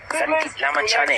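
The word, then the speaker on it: Lamichhane: Sandeep Lamachane. Thank you. I think I'm pronouncing it right now, finally.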